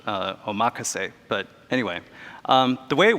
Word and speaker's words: omakase: even more true of omakase or actually I just learned that it's probably pronounced oh macha say but anyway the way